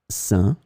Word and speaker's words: sain: In this lesson, we will see together 3 words that are written differently but pronounced the same way. Sain, sein, sain.